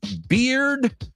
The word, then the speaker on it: beard: menend meita she says beard rhymes with weird correct bird rhymes with herd correct bear with pair very good and then